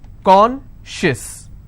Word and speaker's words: conscious: not apply here okay conscious how many syllables do i have two and i will stress on corn conscious okay precious how many